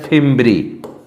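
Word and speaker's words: fimbriae: इस अंगुली के समान उभार को कहते हैं फिम्ब्री। इसको बोलेंगे फिम्ब्री, ठीक है ना, इसको बोलेंगे फिम्ब्री।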